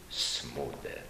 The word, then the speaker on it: Smuda: właściwie naturalniej był naturalniej byłaby wymowa Zmuda ale tu nastąpił proces od bezwizowego z i mamy dzisiaj Franciszka Smudę taka jest prawda etymologiczna